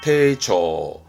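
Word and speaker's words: 丁重: 발음은 테이초, 테이초.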